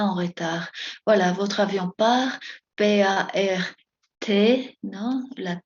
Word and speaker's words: part: Cette chambre dote accueille les tout à partir de cancer.